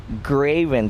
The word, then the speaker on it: Greivin: g-r-e-i-v-i-n and just because they could never pronounce my name and anything they wrote g-r-a-v-n so graven so since that 30 years ago almost i just told everyone graven because it's easier because they say great being grabon grebon so that's